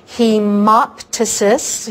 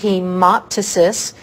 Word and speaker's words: hemoptysis: Tice's dices again PT when PT is at the beginning the P is silent so Tice's so Mike Tyson should have spit instead of bit so hemoptysis hemoptysis someone is spitting up